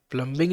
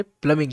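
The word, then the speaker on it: plumbing: बी आई एन जी प्लंबिंग नहीं कहते प्लंबिंग कहते बी साइलेंट प्लंग एक्सप्लोरिंग और डिली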